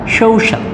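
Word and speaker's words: social: এখানে দেখো এই উচ্চারণটা আমরা প্রায় ভুল করে থাকি, এটা হচ্ছে দেখো শৌ শৌ, এটা দেখো আ সাউন্ড, এটা ও সাউন্ড, তাহলে শৌ, এটা শা, এই সাউন্ড শাল, সৌশাল, এটার উচ্চারণটা হচ্ছে সৌশাল।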